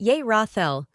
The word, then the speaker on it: Yerathel: Name: Yerathel, pronounced Yerathel.